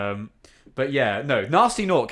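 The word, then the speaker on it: Gnasty Gnorc: No, nasty noc. His name is spelled with a G at the front.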